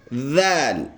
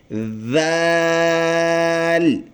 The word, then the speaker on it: ذال: اس کو پڑھتے ہوئے ہم نے ایسے تلفظ کرنا ہے دال دال. اگلا ورڈ ہے ذال.